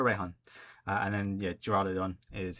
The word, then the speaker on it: Raihan: japanese name is kibana i'm going to call him reihan or pronounce it as reihan it might be a different pronunciation but i prefer reihan and then yeah geraldon